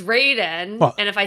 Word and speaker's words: Raiden: I in Mortal Kombat I always want to say Ryden, right? But no, it's it's Raiden.